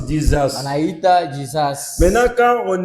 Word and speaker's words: Jesus: On prononce Jesus.